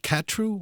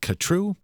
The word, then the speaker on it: Khatru: this record Siberian katru is it katru or katru I've heard it pronounced both ways at any rate this